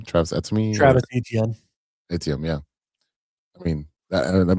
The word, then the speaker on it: Travis Etienne: Travis Etienne.